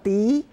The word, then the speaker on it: 笛: Okay, this is what we call Di. That is the Chinese pronunciation for flute.